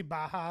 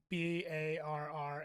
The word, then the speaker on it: Barra: It's Gracie Baja. It's Gracie Barra. It looks like Barra, but I think it's Baja.